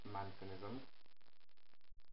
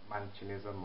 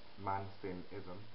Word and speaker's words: Mancinism: sort of bias to left sidedness and it's pronounced manism not manism or manism or manism I think people got